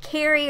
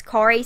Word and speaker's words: Kari: of people ask me, how do you pronounce, is it Carrie or Kari? What is the Kari? Is it Kari or Carrie? And it's Kari, because not, so I would think that it would be pronounced Kari.